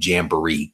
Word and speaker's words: Jamboree: It's actually Jamboree. Comic Jamboree is the spelling or the correct pronunciation, I should say.